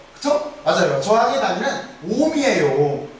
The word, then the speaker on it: 옴: 옴. 기호 자체는 어떻게 쓰냐면 오메가를 써요. 이렇게 오메가를 써놓고 나서 읽을 때는 옴이라고 읽는 거예요.